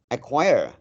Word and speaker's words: acquire: and M accommodate acquire acquire the acquire the C acquire is silent so it is often